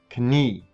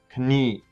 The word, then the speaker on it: Knie: So in English, the K is silent when you have these two letter combinations. There is no silent K sound in German. So, Knie, Knopf. Notice that I instantly go from the K sound to the N sound.